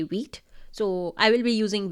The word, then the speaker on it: Vite: Instead of CRA, create React app, we will be using Vite or White, the way you want to pronounce it. I will say Vite.